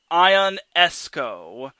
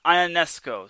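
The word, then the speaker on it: Ionescu: Oh, Larry B is telling me how to pronounce Sabrina Ionesco. Thank you, Larry. Yeah, I definitely appreciate you. So, Sabrina Ionesco.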